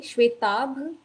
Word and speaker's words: Shwetabh: Shwetabh, bha. Shwetav. Shwetav. Okay, okay. So there is a problem with the bha sound.